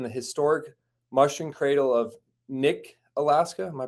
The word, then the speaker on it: Knik: I am here with WDE Mars, who was born and raised in the historic mushroom cradle of Nick, Alaska. Am I pronouncing that right? Uh, Kick.